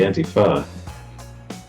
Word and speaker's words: Antifa: It wasn't the Antifa. You blame everything on that. It was just robots. It should be pronounced anti-fa, though, shouldn't it? Instead of fa, because I would say fascists.